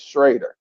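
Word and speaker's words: Schröder: of you you know he is spelled schroer but he pronounces it Dennis is shraer he's the key he's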